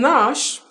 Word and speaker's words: gnash: G is silent in Nash, G-N-A-S-H, gnashing of teeth.